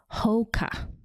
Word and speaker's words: Hoka: It's Hoka, not Hoka. Hoka.